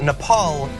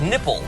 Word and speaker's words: Nepal: So in a meeting, Donald Trump apparently uh was studying a map, a briefer's map of the region, and he pronounced Nepal as nipple, and he had to be told not to call it nipple.